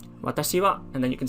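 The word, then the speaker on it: 私: i and you write it like this it's pronounced as watashi and i think everyone knows what it means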